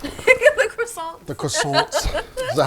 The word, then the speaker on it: croissant: you get it i think the t is supposed to be silent oh okay yeah you have to say with a little accent or it doesn't really